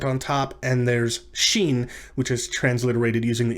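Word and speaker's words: shin: sat like scene is it's pronounced like s and h in the word ship or shot or shoot um but because it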